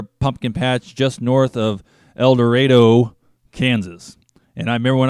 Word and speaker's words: El Dorado: first moved to kansas i pronounced that el dorado and somebody corrected me corrected me very quickly said no it's not el dorado it's el dorado but i know the eagle song it's el dorado and it seems like